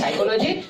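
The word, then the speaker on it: psychology: अगर ये दोनों के पहले अगर पी आता है तो पी का उच्चारण हम लोग नहीं करते। इसलिए इसको पढ़ते हैं साइकोलॉजी और इसको पढ़ते हैं निमोनिया।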